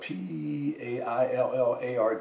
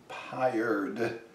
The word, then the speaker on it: Paillard: And the dish I'm going to make today is called Chicken Paillard. And it's spelled P-A-I-L-L-A-R-D, and most Americans might say Paillard and pronounce the D. In France, they won't say the D, so it's Paillard.